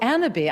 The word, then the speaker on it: Annabis: Spelled like cannabis without the C, but we pronounce it the fancy French way. Of course, you're the Coco Chanel of cannabis. Right. So Annaby, I'm the CEO of Annaby.